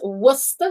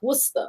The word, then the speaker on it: Worcester: say it yeah it's not like that it's pronounced worcester sauce okay just so you know no no